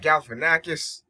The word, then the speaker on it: Galifianakis: This is OmegaPro, and I just watched the movie The Campaign, which stars Will Ferrell and Zach Galifianakis.